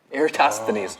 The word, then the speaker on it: Eratosthenes: Eratosthenes. Yeah. Eratosthenes. Yeah, Eratosthenes. that's it. Got it. Okay, go 5 on.